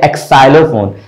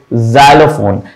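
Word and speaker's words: xylophone: लोग कह देते हैं एक् साइलो फोन ब इट्स नॉट एक् साइलो इट्स जाइलोफोन तो ये ज आता है इसी तरह से क्रीज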